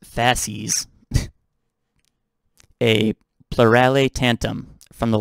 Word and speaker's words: fasces: let's talk about the fashion okay it's pronounced pronounced faces a plurale tantum from the latin words fascist